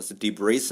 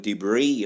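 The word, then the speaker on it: debris: 이때 쓰는 묵음 입니다 s 는 발음하지 아나요 아나요 스티브 레이스 아니 그 d 브레이 라고 발음해야 되고요 파편이 나 조각 을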